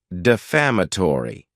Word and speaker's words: defamatory: next is the word defamatory and this word has five syllables with the stress on that second syllable defamatory it's not a